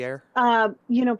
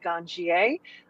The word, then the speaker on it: ganjier: so how long have you been a ganjier? Did I pronounce that right? Almost. Ganjier? People say it a lot of different ways. I say ganjier. I hear ganjier.